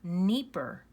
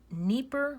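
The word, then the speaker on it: Dnieper: pronunciation it's called the nipper River yeah you think it starts with an N but it's actually starts with a D and it's pronounced the nipper River you don't pronounce the D this is a major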